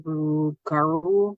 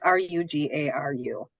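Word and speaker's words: Rougarou: And Ojibwe of the Northern Plains believe that Bigfoot, or what they call Rugaru, I believe is how you say it. I'm not sure, but it's Rugaru, appears in times of danger.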